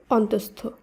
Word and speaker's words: অন্তস্থ: তারপরে রয়েছে যুক্ত ব্যঞ্জন তাই শুদ্ধ উচ্চারণে বিসর্গ লোভ পাবে এবং উচ্চারণ একই থাকবে তাই অ দন্ত নয় তয় বিসর্গ দন্তসয় থ শব্দটি শুদ্ধ উচ্চারণ হবে অন্তস্থ একইভাবে দয়সু বিসর্গ দন্তস